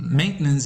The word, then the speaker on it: maintenance: fourth syllable pronunciation and maintenance is accented on the first syllable situation is accented primarily